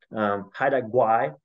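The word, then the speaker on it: Haida Gwaii: Haida Gwai is the pronunciation of the islands.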